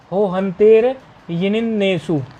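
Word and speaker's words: हो हन्तेर्ञ्णिन्नेषु: हो हंतेरयण्येषु, हो हंतेरण्येषु, हो हंतेर हो हंतेर यी, हो हंतेर यिण, यिणिन्नेषु, हाँ यिणिन है, एक दो नकार है उसमें, हो हंतेर यिणिन्नेषु।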